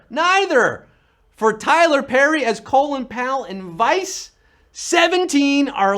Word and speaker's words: Colin: Colin. That's how you pronounced his name. Colin? No, Colin.